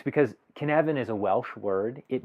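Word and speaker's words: Cynefin: making framework and if you're wondering why I'm pronouncing it can even with the spelling on the slide here it's because kevin is a welsh word it means habitat or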